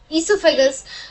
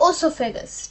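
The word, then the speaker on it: oesophagus: ईसोफेगस में जो ओ है वो साइलेंट रहता है, वो ईसोफेगस प्रोनाउंस होता है, ना कि ओसोफेगस, ठीक है।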